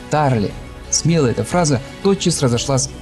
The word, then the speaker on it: Тарле: Как-то на большой лекции в МГИМО его назвали Тарле с таким французским ударением, и он вдруг вскипел: «Я не француз, а еврей, и моя фамилия произносится Тарли».